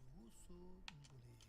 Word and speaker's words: Usu Ngule: So my name, the way to pronounce my name is Usu Ngule.